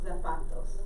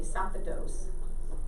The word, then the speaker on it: zapatos: Los zapatos. Okay. And Spanish 1 still has trouble with this. They say zapatos. So you gotta put the accent in the right spot.